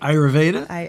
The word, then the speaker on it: Ayurveda: have you heard of ayurveda ayurveda ayurveda never heard of heard your pronoun it so well did I say it right you said it perfect ayurveda ayurveda okay what is